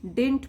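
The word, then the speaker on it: didn't: तो हम पढ़ते टाइम डिडंट बोलते हैं। ये जो सेकंड वाला डी है इसको हम प्रोनाउंस नहीं करते, डिडंट।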